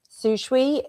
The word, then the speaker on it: Sishui: If you've been watching for the last month or so, you know I've been struggling to pronounce their name properly. So thank you, Iggy. Sishui is how we're going with it moving forward.